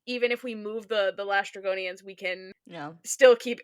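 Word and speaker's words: Laestrygonian: You said Lastragonian. How do you say it? I say Oh, I say Lystragonian.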